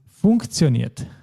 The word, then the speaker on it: funktioniert: Be careful, it is funktioniert. Funktioniert.